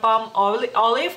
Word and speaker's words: Palmolive: Entonces, sí, en México lo dicen Palmolive, pronuncian Palmolive, y en Lituania decimos Palmolive, o sea, la E la quitamos, Palmolive.